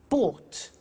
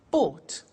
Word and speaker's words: bought: to the pronunciation by bought you notice that o u g HT is pronounced ought buy bought come came do did